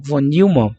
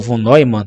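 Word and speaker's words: von Neumann: do tempo então V Von Newman ou Von noyan Depende muito da pronúncia Se não me engano ele é alemão ele contribuiu muito para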